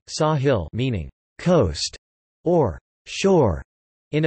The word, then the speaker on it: sāḥil: The name is derived from the Arabic word Sahil, Sahel Arabic pronunciation, Sahil meaning coast or shore in a figurative sense